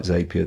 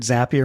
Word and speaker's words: Zapier: I heard Zapier makes you happier, so I don't know if I'm pronouncing it wrong, because I thought it was a zap, like an app, but maybe it is Zapier.